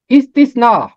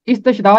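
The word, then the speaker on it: استثنا: अगली किताब इस्तिस्ना। इसका तलफ़ुज़ इस्तशना नहीं है। मैंने बहुत सारे लोगों को सुना इसका तलफ़ुज़ इस्तशना पढ़ते हैं, ये शीन नहीं है, स है।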